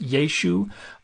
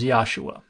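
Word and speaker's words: ישו: represented in Greek transliteration so we can't know for sure if it was just yeshu or yeshu with that pharyngeal consonant at the end but what it definitely wasn't was yahshua if you want a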